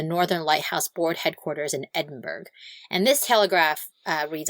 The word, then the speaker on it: Edinburgh: Is it Edinburghough, Scotland? Edinburghough probably. You know how good I am at pronouncing things. I mean, it looks like Edinburg. Man, way to call me out. I thought I was doing great on that word. Uh um that was a joke. I definitely know it's pronounced Edinburgh.